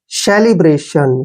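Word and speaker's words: celebration: को रे पढ़ते हैं टी आई ओ का उच्चारण स करते हैं और एन को न पढ़ते हैं ब्रेशन सेलिब्रेशन सेलिब्रेशन क्या होता है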